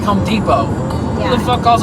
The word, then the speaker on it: Depot: That's Home Depot. well, because a lot of English has roots in other languages, like French or Spanish or whatever, you know. So it, you know, the T is silent in French.